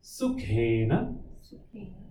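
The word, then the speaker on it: सुखेन: Sukhena. It is KH. So Kha. Sukhena maya Nidra Anubhuyata.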